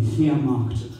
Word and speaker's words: Wehrmacht: I'm not a Nazi, of course, you know, which is hard to explain when you're telling someone that the W is pronounced with a V in Wehrmacht.